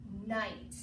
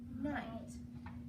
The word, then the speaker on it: night: So when you see GH come after A, E, I, O, and U, it won't make a sound. So like in the word night, you don't hear the GH because it comes after the vowel I.